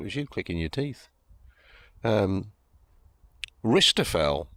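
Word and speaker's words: rijsttafel: Ristafel, says Jimmy, Rijstafel, is an Indonesian meal with a silent J in it.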